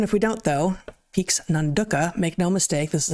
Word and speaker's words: Nanduka: So, it's spelled with all A's. The only vowels in the word are A's. But they gave a little phonetic pronunciation thing and they want us to say Nanduka.